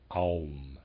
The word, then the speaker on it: Aum: So there's a picture of Om, O-M, and below it the O has a line going to an Ah and a line going to a U, so you have Aum. So we have Om and Aum.